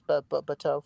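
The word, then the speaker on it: Batou: I reviewed the Bato figure today. I'm pronouncing that right, Rick? Oh, he went away. Oh, it's you're good. It's Bato from from Ghost in the Shell.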